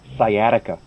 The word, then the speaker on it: sciatica: these words, your pronunciation, your normal rules for pronunciation won't help you. So that first word, upper left, sciatica.